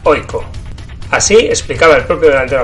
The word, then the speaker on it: AIK: de la mano de aiko asna que por cierto como veremos enseguida se pronuncia oiko así explicaba el propio